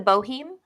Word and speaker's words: Boheme: know say it again the Boheme the bohem bohem yeah it's spelled b-o-h-e-m-e pronounced good thing that wasn't